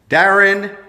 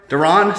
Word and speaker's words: Derron: out and work for Darren Derron sorry got your name wrong she's out the boss